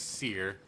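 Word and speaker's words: Cere: Alright, so I was saying her name wrong too. It's Seer.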